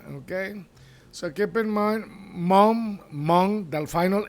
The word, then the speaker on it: mon: Okay, so keep in mind mom, the final N on Mong, you don't pronounce it. It's nasal.